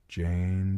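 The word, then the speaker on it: Jeyne: "Jane, Jane, it rhymes with pain."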